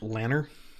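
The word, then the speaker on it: Lanre: I pronounce Lonre, like Lonre, so I probably would say Imre. Actually, that's pronounced Lanner.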